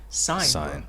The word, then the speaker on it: Sein: this one last time is it Shin or sin how do you pronounce this sign sign like you're signing a piece of paper understood yeah so for